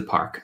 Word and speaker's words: parc: It's hard to say park when you get that R in the back of the throat.